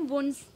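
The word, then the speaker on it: wounds: और ये जो है इनका काम क्या होता है कि जो हमारे वुंड्स हैं, इसको हम वाउंड्स प्रोनाउंस नहीं करते हैं, वुंड्स यानी कि घाव जो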